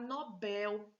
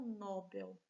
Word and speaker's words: Nobel: ibero e não ribeiro é correto falar nobel e não nobel é o certo é